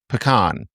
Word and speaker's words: pecan: Okay, yeah, because I pronounce it pecan because P is something you do in the can.